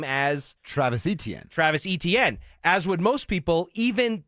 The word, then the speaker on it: Etienne: Travis Etienne, as would most people, even the Jacksonville Jaguars, who put in their media guide that E-T-N is how you're supposed to phonetically is how you're supposed to pronounce his name.